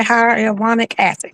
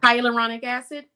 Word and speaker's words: hyaluronic acid: And I think how do you say hyaluronic acid? Hyaluronic acid.